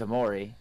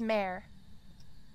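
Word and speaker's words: Mare: we're not getting uh no it's Amore no because we got freezing temps and ghost writing so we have a it's pronounced mayor uh you're looking at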